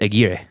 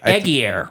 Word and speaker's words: Aguirre: I think Aguirre, Wrath of God. I think Aguirre is probably the correct pronunciation.